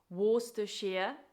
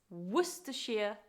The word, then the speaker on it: Worcestershire: It's often mispronounced Worcestershire when actually it's Worcestershire sauce. Worcestershire, difficult to say.